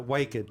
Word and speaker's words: Waked: having uh wed rhymes with naked so welcome to the